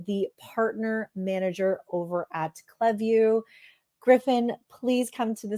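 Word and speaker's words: Klaviyo: get CLE we get cleu kind of just depends where on the globe you are how you pronounce but you're you're right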